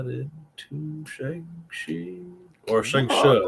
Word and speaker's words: Shang-Chi: But I was not into Shang-Chi or Shang-Chi is the right way to say it. Shang-Chi, not Shang-Chi, as Americans say.